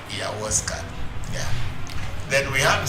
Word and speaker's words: Ayahuasca: It's not Alipina, it's Ayahuasca. Ayahuasca.